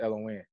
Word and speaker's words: Elohin: i n is n so when you break it down it's l win just kind of got